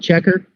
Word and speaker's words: Checkr: This one is called Checker. It's spelled, it's like CHECKR or something like that. It's spelled not quite like the word.